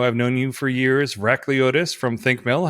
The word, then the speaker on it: Vrachliotis: say your last name you say it vrashlyotis or vracliotis you can choose and you picked the second and that was pretty